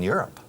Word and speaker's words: Europe: Mira, la pronunciación de esto. Imagina que esto en vez de bolígrafo se llama up. This is an up. Up. It's my up. Where's Europe? Europe. You understand? Europe.